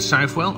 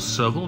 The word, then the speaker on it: Southwell: action at exeter and southwell or several depends on how you pronounce it and no action on